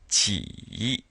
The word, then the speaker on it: 几: So it sounds like this. Ji, ji.